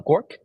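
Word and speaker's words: GOARCH: to be W or those two flags are pronounced as goose and uh gork and then you build the same uh main.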